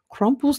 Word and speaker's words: Krampus: wish everyone a happy crumpus not Eve so yeah tomorrow is when Krampus comes yeah I just did the American pronunciation of Krampus Krampus by the time